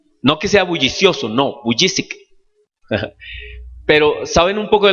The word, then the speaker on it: Vujicic: No pronunciemos el apellido porque es difícil, ¿cierto? ¿Cómo es? Vujicic. No que sea bullicioso, no, Vujicic.